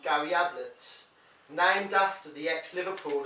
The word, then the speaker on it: Ablett: these EES called Gary Ablett named after the ex Liverpool and Everton defender whose name rhymes with tablets but if you have